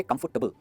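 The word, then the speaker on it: comfortable: इसे कहेंगे कंफर्टेबल, और टेबल नहीं कहेंगे, क्योंकि इस वर्ड में टेबल लिखा है। इसका मतलब ये नहीं कि आप इसे टेबल कहो, ये हो जाता है टेबल।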